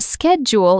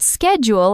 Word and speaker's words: schedule: A word like schedule is pronounced schedule in the UK, but schedule in the US.